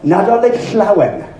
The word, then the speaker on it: Nadolig Llawen: while, if you see the letters LL, the phoneme LL, it's pronounced regardless of where it is. It's Llanfair Pilbish, or Nadolig Llawen. Sounds horrible, it sounds like an insult. It's actually Merry Christmas in Welsh.